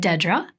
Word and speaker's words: Dedra: And yes, I said Dedra. I never heard it pronounced that way. I've heard of Deidre, but not Dedra.